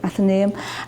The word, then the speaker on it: Athenaeum: Frederick spoke in the and I hope I pronounced it wrong after name that's how you say it okay Athenaeum and this is the original building and sadly